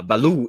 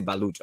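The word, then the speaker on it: Ballout: that um for him he does not pronounce the last letter or so is Balu so don't say baluch I mean we see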